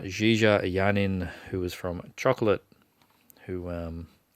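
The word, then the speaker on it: JeeJa Yanin: starring and we're gonna say her name right Jie Jie a yarn in who was from chocolate who I think we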